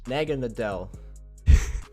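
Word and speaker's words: Naganadel: this game he switches out straight into nega nega in the dell that's how you say it and I predicted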